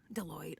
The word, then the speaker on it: Deloitte: Deloitte, of course. Deloitte. It's Deloitte.